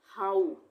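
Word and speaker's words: how: रहा है पर यहां पर हम हो नहीं पढ़ेंगे इसको यहां पर पढ़ेंगे हाउ आ उ आएगा हाउ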